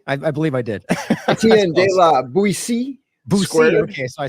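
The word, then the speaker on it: Etienne de la Boétie: Etienne de la Boetie. Okay, so I said it wrong. Boetie or Boetie? I've heard people say it both ways. So, or bow tie, say it incorrectly.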